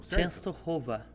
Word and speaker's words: Częstochowa: É um sopro, literalmente é isso, né? Então, Częstochowa.